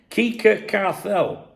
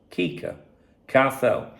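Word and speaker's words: Quique Cárcel: Now, the sporting director, now this is how he's Kika Carell. If you saw how that was spelled and how you pronounce it, it's hilarious.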